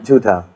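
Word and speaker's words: झूठा: Jhuta. Like Judas? No, that is Jhuta.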